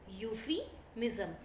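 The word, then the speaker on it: euphemism: बुरा भी ना लगे इसको बोलते हैं यूफेमिस्म यूफी मजम इसे स्पेलिंग स्टार्ट होती है ई यू पी एच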